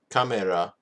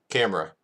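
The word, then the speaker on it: カメラ: So, kamera is camera. So, kamera, camera.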